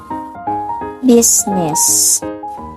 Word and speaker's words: business: fire Echo and R and then for the letter I is usually pronounced except in word business and then the letter